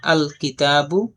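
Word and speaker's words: الكتاب: তো কিতাবুন এর শুরুতে যদি আলিফ লাম যুক্ত করা হয় তখন এখানে আল কিতাবু লামটা উচ্চারণ হবে।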